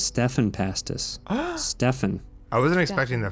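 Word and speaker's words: Stephan Pastis: up pearls before swine i've been i've been pronouncing his name wrong for months now that is his name isn't steven his name isn't steven pass this is stefan pastis stefan i wasn't expecting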